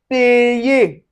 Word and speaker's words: payer: And then, you can see it in what, like vowel plus y plus a vowel. And for instance, we have words like payer. Payer.